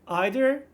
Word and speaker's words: either: regarding either and neither you can use either pronunciation like either or neither or either and neither choose the one you prefer for example you might say either and neither or either and neither the pronunciation varies and either choice is acceptable either and neither should